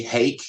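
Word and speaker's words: Haak: and what was your teacher's name again h-a-a-k hake is how he pronounced it Clyde h so you you essentially decided you're going to become a combination of Clyde hake and Coach Wallace is that right that's right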